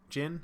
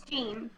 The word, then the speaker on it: Jin: I assume it's Jin? It's Gene. Gene? Yeah, Gene. That's what His name is Gene.